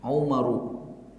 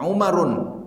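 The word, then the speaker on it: عُمَرُ: Umaru. Ya. Maka kita tidak boleh membaca Umarun, tidak boleh. Salah dia kalau membaca Umarun atau membaca Al-Umaru. Salah.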